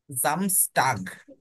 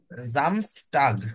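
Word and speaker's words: Samstag: খেয়াল করেন Saturday Saturday কে কি বলে জামস জামস টাগ জামস টাগ ওকে কি উচ্চারণ হবে এটার জামস টাগ জামস টাগ হ্যাঁ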